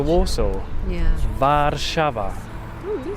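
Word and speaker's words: Warszawa: of the city how do you say the name of Warsaw in in Polish vava vava so different to Warsaw yeah vava oh you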